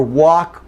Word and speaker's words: walk: Now, in the same way, no L for walk or talk. Okay, no L. Okay, walk and talk, we've got the ah sound for A, so walk and talk, no L.